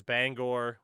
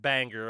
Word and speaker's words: Bangor: even consider a city because Bangor, and no, it's not pronounced Banger.